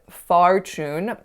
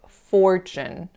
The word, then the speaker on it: fortune: kind of awkward here I believe I said far tuned but it would be pronounced fortune fortune the next mistake I made had to